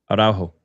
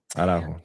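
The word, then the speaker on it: Araújo: Araujo. Thank you. Araujo.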